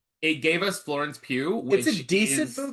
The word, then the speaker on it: Florence Pugh: the movie is good, and the the new Florence Pugh Did I pronounce that right? Yeah. Thank god. Uh the new Florence Pugh Black Widow is great and maybe arguably better